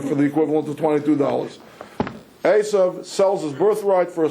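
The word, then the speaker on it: Esav: Okay, for those of you who don't remember the whole narrative, these two fellows, Asov, let's you're pronouncing it Isa. That's that's a good English translation. Let's use the Hebrew words. Asov and Yakov were twin brothers.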